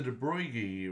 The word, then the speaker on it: de Broglie: the thing um so the de bruyji which it's spelled de broglie um wavelength has to